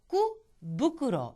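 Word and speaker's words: 福袋: 그런데 이게 후쿠라는 말과 붙여서 후쿠부쿠로, 이 경우에는 부쿠로로 발음이 나는 거죠.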